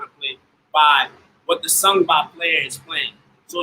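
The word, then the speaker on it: sangban: This is called the sangba. This is called the sangba. How do you spell that? How do you spell that? S-A-N-G-B-A-N. Sangba. Okay. The N goes away.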